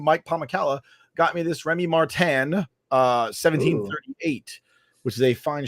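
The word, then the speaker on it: Rémy Martin: It's pronounced Remy Martin.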